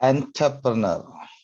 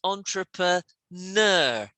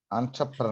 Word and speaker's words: entrepreneur: do we pronounce that enterpreneur n not n it's more like on no like that entrepreneur notice the ner is the bit that's stressed so it's entrepreneur entrepreneur that's it that's it